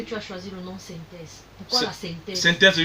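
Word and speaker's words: 5THEZ: Il y a ma chaîne YouTube, la chaîne synthèse. Vous trouvez la majeure partie des plateformes. Je sais que ça s'écrit 5, hein? 5, le chiffre 5, 5-THEZ. Simplement. 5 solamente. Voilà. Il va reprendre. 5-THEZ, synthèse.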